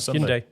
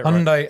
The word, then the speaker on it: Hyundai: Hyundai Hyundai Hyundai like hund got say Hyundai Hyundai like Sunday so um yeah so